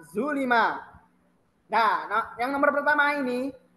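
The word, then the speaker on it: ظُلِمَ: Dia di sini domah atau u, sedangkan di sini fathah atau dibacanya a, zolama. Kemudian zulima.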